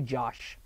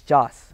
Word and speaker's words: Joss: I keep wanting to say Josh. It's Joss Whedon, you know, known for Buffy and Firefly and Angel.